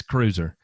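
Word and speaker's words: Kreuser: that uh uh or how do you say it up north krauser is it croiser yeah it's cruiser i don't care what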